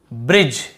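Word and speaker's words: bridge: तो देखिए बाइक type name shine change ब्रिज। यहां पर भी देखिए डी भी साइलेंट है और ई भी साइलेंट है।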